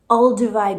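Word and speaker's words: Olduvai: Ulivi Gorge in Tanzania.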